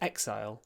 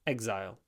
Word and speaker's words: exile: So to me exile exile. Exile doesn't sound American to me. That's interesting. So you can choose you can say exile you can say exile. It really it really doesn't matter.